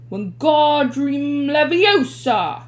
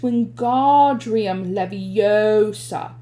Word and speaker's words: Wingardium Leviosa: "Wingardium Leviosa!" he shouted, waving his long arms like a windmill. "You're saying it wrong," Harry heard Hermione snap. "It's Wingardium Leviosa. Make the gar nice and long."